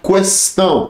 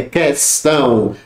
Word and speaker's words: questão: Tá errado, aqui é dígrafo, é distinguir, extinguir, adquirir, muita gente fala adquirir, questionar, questão, tá errado, é questão, adquirir, né?